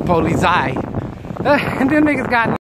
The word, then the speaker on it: Polizei: And that's how you say it in German, Polizei.